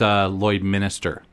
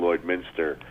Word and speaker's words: Lloydminster: Well, when you do come September 24th and you are looking for the cheap pop, it's Lloyd Minster, not Lloyd Minister.